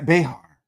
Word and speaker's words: Behar: Matt Behar. Not by far. That's it right there.